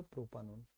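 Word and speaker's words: propanone: থাকলে এটা ওন দিয়ে শেষ হয় নট ওয়ান উচ্চারণটা অন দিয়েই করবো আমরা এখানে ওনটা তাহলে এর নাম হয়ে গেল প্রোপানন দেখো এখানে কি হলো দেখো সেটা হচ্ছে যে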